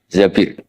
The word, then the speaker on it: Zabir: Di hadis ini bacanya bukan Zubair tapi Zabir.